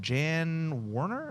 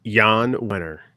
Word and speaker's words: Jan Wenner: out a book or guest upcoming book uh Jan Warner is that how you say his name it's Jan winner okay thank you Jan you're welcome Juana um